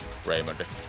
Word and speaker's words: Raymond: Raymond doesn’t get it done. Raymond. Battle, Raymond—he battles. Berglund dumps it in deep. This has to be Håkansson’s puck now. Nope, it isn’t. Battle for it now, Raymond.